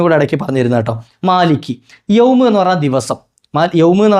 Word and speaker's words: مَالِكِ يَوْمِ: പറഞ്ഞു തരട്ടെ ഒരു കാര്യം അതായത് മാലിക് എന്നതിന്റെ അവസാനത്തെ കാഫും യൗമ് എന്നതിന്റെ തുടക്കത്തിലെ യാവും തമ്മിൽ ചേർത്ത് ചില ആളുകൾ ഓതാറുണ്ട് ക്യാ എന്നുള്ള വാക്ക് ക്യാ